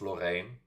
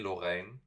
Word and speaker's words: Loreen: It's actually pronounced Lorraine, not Loreen. Martin said clearly Lorraine, and she's saying Lorraine.